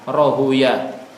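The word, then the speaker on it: راهويه: Makanya rohaweh juga ada yang membaca rohuyah. Ahlul hadis kebanyakan membacanya dengan bacaan rohuyah, marduyah. Ahli lughah membacanya sibaweh, mardaweh, seperti itu.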